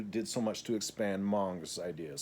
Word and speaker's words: Monge: so much to expand Monge's ideas. So Gauss owes Monge, M-O-N-G-E, or Monge, or Monge. I've mostly heard it pronounced Monge.